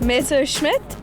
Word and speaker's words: Messerschmitt: Scott what is it Messerschmitts Messerschmitt Messerschmitt yes now that we have the pronunciations right it was time to find out